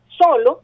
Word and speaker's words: solo: Solo es una palabra grave, tiene 2 sílabas, solo, ¿verdad? ¿Dónde tiene la fuerza de voz? En la penúltima sílaba, es decir, pero es una palabra grave, pero termina en vocal.